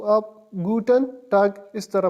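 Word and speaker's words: Guten Tag: और good afternoon को आप गुटन टग इस तरह प्रोनाउंस करेंगे।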